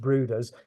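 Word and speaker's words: Bryde's: the books uh but it's Norwegian and it's pronounced bruders you can see it's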